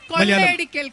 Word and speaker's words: കൊള്ളയടിക്കൽ: കൊള്ളയടിക്കൽ, കൊള്ളയടിക്കൽ, കൊള്ളയടിക്കൽ, കൊള്ളയടിക്കൽ, കൊള്ളയടിക്കൽ. In Malayalam you say kodai elekkal.